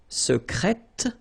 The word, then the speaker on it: secrète: Secret, secrète. Okay, so you're pronouncing the T.